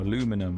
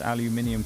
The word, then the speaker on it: aluminium: I was just uh talking about the word aluminum or aluminum as some of you would call it, which is wrong. Aluminum was only created as a word because people couldn't pronounce aluminium correctly and then justified it to themselves instead of accepting they were wrong.